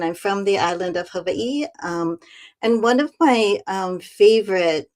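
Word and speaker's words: Hawaiʻi: Don't ask me why I've spent almost 40 years here, but I often say that Havi, which again is the correct pronunciation, you pronounce every single letter.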